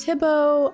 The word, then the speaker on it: Thibaut: My husband's name is pronounced Thibaut. Oh, of course, he is French and I'm Dutch.